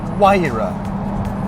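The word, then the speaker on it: Huayra: It's called the Waira, not the Waiara or the Waira or the Hiara. It's Waira.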